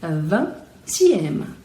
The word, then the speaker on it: vingtième: Normalmente, a gente pronuncia van, não se pronuncia nem o G nem o T. Mas aqui, como a gente vai ter uma sílaba nova, vamos ter que pronunciá-la. Então, vai ser vingtième, vingtième.